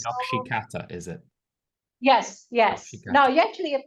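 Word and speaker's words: Nakshi kantha: Nokshikatha. No, you actually are pronouncing it quite well.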